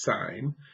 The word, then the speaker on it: sine: just put SI n so sin is not pronounced and it's pronounced sine all right Coast this